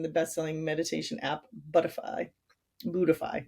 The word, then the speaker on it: Buddhify: Buddhify, that's how you say it. Sorry, I was reading that instead of, I know what that is. It's Buddhify.